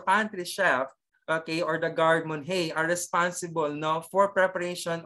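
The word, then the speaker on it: garde manger: Pronounce gardemon hey. Gardemon hey. Gardemon. Ayan. Hindi gardemanger, ha?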